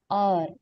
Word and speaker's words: hour: Hour, it's pronounced as hour.